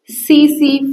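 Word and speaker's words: tsetse: जो होगा वो होगा सी सी फ्लाई बेटा इसको टसी टसी नहीं पढ़ेंगे र टी साइलेंट है तो इसको पढ़ेंगे सीसी फ्लाई क्या क्या बात हमने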